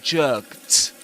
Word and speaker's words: jerked: And the other rule for the pronunciation of the ed ending in the simple past is that if a verb ends in any voiceless sound except t, you pronounce that ed as t. So you say, for example, jerked, jerked.